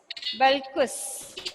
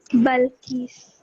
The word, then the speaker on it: Balkis: Balkus, Subai. Are you there? Balkus Subair? Yes, ma'am. Okay. Actually, what is the pronunciation of your name, please? Balkis. Balkis. Okay, correct.